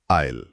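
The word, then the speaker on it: aisle: और उच्चारण है आईल। बिल्कुल। जैसा आपने कहा एस का उच्चारण नहीं होता।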